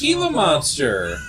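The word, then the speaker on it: Gila monster: own native language no a g is an H sound J is an H sound you dumbass heila monster heila monster it's why I that's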